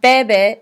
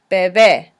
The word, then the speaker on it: bebé: And there's an accent on the second E, so you have to make sure and enforce that sound. It's not bebe, it's bebé.